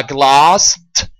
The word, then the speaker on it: glossed: The last sound is s. So when I add an ed, the ed altogether are pronounced as a t sound.